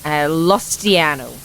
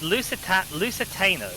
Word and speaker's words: Lusitano: After being imported from Spain, Lustiano. Lustiano? How do you spell Lustiano? Oh, I may be mispronouncing that as well.